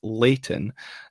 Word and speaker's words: Leighton: remember my Gordon's education and it should be pronounced Leighton uh so what did you make of Leighton